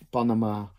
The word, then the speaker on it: panama: het gips factuur en de klemtoon kan liggen op de eerste lettergreep panama op de tweede lettergreep pyjama de derde lettergreep chocola op al die lettergrepen